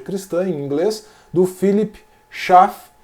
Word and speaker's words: Schaff: em inglês do philips chá se você pronunciar como é a origem do nome dele né suíça ou philips cafe como os americanos vão fazer tá philip schaff um